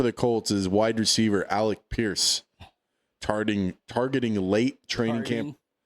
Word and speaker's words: Alec Pierce: Maybe Maybe if you could say his name right. Alec Pierce. Alec Pierce. Yeah, I said Alec Pierce. You said Alex Pierce.